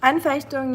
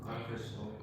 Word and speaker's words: Anfechtung: Anfechtung, yeah. Anfechtung.